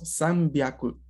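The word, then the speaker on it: 三百: hyaku, 200 ni hyaku, pero 300 cambiaba un poco la pronunciación de ese hyaku y se volvía byaku y decíamos san byaku.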